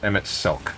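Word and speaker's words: Emet-Selch: Pronounced Emmett Selk.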